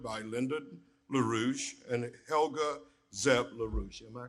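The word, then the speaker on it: Zepp-LaRouche: schiller institute founded by linda larouche and helga zeb larussia am i correct in that pronunciation good in 1984 in april and may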